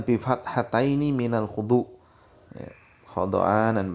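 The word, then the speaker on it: خُضْعَانًا: Khada'anan bi fathataini minal khudu, ya, khada'anan bacanya begitu dengan dua fathah kha dan dha ya, dibaca khada. Maknanya diambil dari kalimat khudu. Wa ruya bi dhammi awalihi wa sukina thanihi ay khadi'ina. Dan ada riwayat pula yang menyebutkan ya bacanya khadi'ina begitu.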